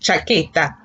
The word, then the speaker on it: chaqueta: It's pronounced chaqueta.